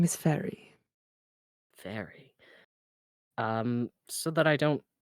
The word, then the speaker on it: Fayre: My name is Fairy. Very. So that I don't goof this up, will you please spell that?